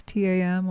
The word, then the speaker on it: tam: center of your sternum is the red seed syllable thumb you can look if you can see it it's tam or you can see this the tibetan either